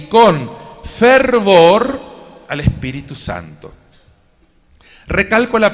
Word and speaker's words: fervor: época hace 500 años la f se pronunciaba como H entonces Santa Teresa decía que el Cristiano tenía que tener hervor de espíritu el espíritu de un